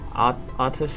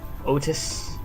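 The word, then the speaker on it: Outis: the characters pronounce them like saying Aus instead of otus I just can't read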